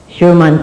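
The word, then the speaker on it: Schurman: The Scorman Commission. The? Scorman Commission. Sherman Commission. All right, that's the way to say it. Sherman Commission. S-C-H-U-R-M-A-N. All right, we said that phonetically.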